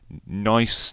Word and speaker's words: Nice: Nice niece biscuit, whatever you want to pronounce it as.